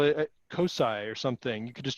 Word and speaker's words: COSI: And so the first time I saw COSI, I was like, oh, it's COSI. And then people started saying cozy. And I was like, why are you saying it that way?